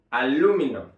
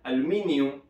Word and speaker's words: aluminum: y se pronuncia aluminum aluminum vean que la acentuación la sílaba tónica está acá aluminum aluminum muy bien De hecho en inglés británico se pronuncia aluminium cambia la sílaba tónica pero en inglés americano